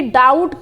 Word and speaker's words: doubt: अब आप कहेंगे कि डाउट की जो स्पेलिंग होती है वो होती है DOUBT, तो यहाँ पे बी जो होता है वो साइलेंट भी होता है, लेकिन हम यहाँ पे बी इंक्लूड नहीं कर रहे हैं।